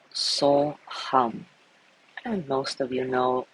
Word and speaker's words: So Hum: The yogic mantra So Hum, so the first syllable is So, S-O, the second is Hum, H-U-M, So Hum.